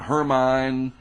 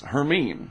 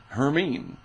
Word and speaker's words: Hermine: you say it by the way it's not hermine or whatever it's herine so I don't you know I wondered what it was and I looked it up and the pronunciation guide says herine so maybe that becomes herine if this doesn't